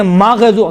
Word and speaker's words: مغضوب: طرح غیر المغضوب علیہم، دیکھیں مغضوب، غین میں قلقلہ نہیں ہے لیکن تلفظ کرتے وقت کیا کہتے ہیں؟ مغضوب علیہم، ماغ نہیں ہے۔ غین اور خا میں دیکھیں، غین اور خا یہ کون سے حروف ہیں؟